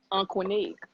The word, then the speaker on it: Aunqunic: Aunqunic.